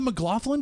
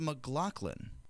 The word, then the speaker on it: McLaughlin: Is This it still man- called the McLaughlin Group?